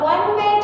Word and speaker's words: one-way: Next coming to a one-way track. Here one-way track. Ha. Okay? Here we don't pronounce it as O.